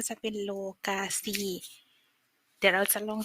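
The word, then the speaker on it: lokasi: ที่ ค่ะ สถาน ที่ ภาษา มาลายู คือ โลกา สี โล กาซี อ่าน ว่า โล กาซี นะ คะ คือ สถาน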